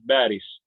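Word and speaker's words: باريس: Parisu. Yeah, Paris, right? Because we don't have P in Arabic. So parking becomes barking like a dog, and Paris becomes Baris.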